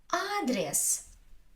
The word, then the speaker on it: адрес: Адрес, адрес. Is not stressed, so I say адрес, адрес, адрес.